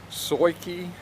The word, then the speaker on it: SUAOKI: that is why I'm also testing today the SOI key yes that's how you pronounce it sua okay I it's 150 watt